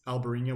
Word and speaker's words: Albariño: the same thing but in Spain it's albarina with a b and in Portugal it's alvarina with a V okay so small difference now